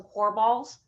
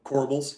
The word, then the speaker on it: corbels: You have some core balls. I don't know if I pronounced that right. I probably just botched that. And you have a little bit of columns. Yep. Corbels.